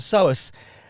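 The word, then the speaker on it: psoas: It's often referred to as the so starting with a silent P.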